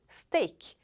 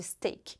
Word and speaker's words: steak: que veio do inglês, steak. Mais uma vez, a pronúncia muda ligeiramente. Em vez de steak, como em inglês, no francês se diz com o E aberto, assim ó, steak.